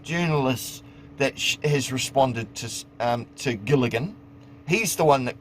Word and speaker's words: Gilligan: Can you not pronounce English? Gilligan? It's Gilligan.